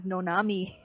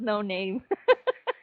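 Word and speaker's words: Noname: I do like her, but I thought her name was Nonami. it's, it's pronounced no name because Nanami.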